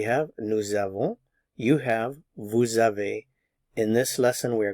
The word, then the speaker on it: avez: Notice the S is not pronounced, tu as. He has, il a, she has, elle a. One has, we have, on a. We have, nous avons. You have, vous avez.